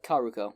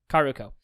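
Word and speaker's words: Kaoruko: because when futaba and karuko how do you pronounce her name uh karuko yeah karuko when they have their falling out they go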